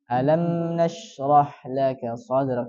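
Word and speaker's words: أَلَمْ نَشْرَحْ لَكَ صَدْرَكَ: Contohnya di ayat yang pertama. Alam. Nah, itu kan ada mim tuh. Mim berharakat sukun. Cara bacanya adalah dialirkan sedikit. Tidak boleh terlalu panjang. Jadi cara bacanya alam nash. Ya, tidak boleh terlalu panjang. Alam nashrah laka sadrak. Tidak boleh juga tertahan.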